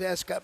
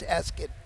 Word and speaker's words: Ascot: I thought it was Ascot my whole life, but it's Ascot.